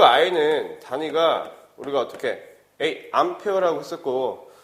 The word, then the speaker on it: 암페어: 근데 이걸 A라고 읽어? 아니죠. 여러분들 잘 아시죠? 이거 뭐라 읽어? 이거 암페어라고 해요. 암페어. 그죠?